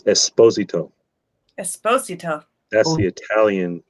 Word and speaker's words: Esposito: It's Esposito. Esposito. That's the Italian pronunciation, not Esposito.